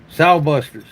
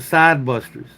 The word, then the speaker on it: Sow Buster: Now, if you're wondering if that's a mispronunciation, I don't call these the sod busters. They're modeled after a sod buster, but I call them, some of you's got it confused, sow buster, which is, a sow is a female bear, right?